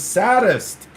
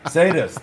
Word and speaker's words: sadist: Tim Marquez says, saddest. That's what you are. We try to be happiest around here. Sadist, I should say. That's the correct pronunciation.